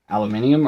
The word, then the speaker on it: aluminium: aluminium that's who I am that's how I pronounce aluminium or aluminum as most people know it so if you